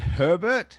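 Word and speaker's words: Hébert: You pronounce it Herbert? I do. I know. I've been saying forever. I try not to correct people too much because some people in Southeast Louisiana get a little combative about the Herbert thing.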